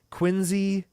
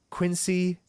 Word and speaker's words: Quincy: Mass, which is pronounced like a Z, Quincy, not Quincy.